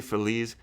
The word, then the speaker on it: Feliz: atmosphere it's home in Los Feliz Phillies however you pronounce it I say Phillies because Feliz Navidad you don't say Feliz Navidad you say Feliz in the song that's just all I know about it so in